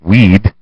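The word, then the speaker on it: Wead: he told biographer Douglas weed yes pronounced like weed I like the answer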